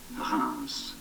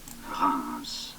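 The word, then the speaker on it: Reims: or Champagne region really in French it is said as Rans Ram in English therefore Rance Ram Rams was the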